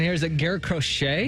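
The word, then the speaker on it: Garrett Crochet: Matt you guys help me out with the pronunciation here is it Garett crochet Garett crochet you nailed it yes sir uh really one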